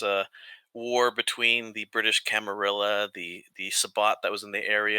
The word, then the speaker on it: camarilla: sorry sorry sorry the the correct pronunciation now is not cambrilla the game the game corrects us uh uh plebeians it's a camarilla everybody says camaria in